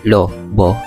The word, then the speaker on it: Lobo: Niyo ba alam na ang Lobo, Batangas ay ang pagbigkas ay Lob Boy ay isang apat na uring bayan sa lalawigan ng Batangas ng Pilipinas.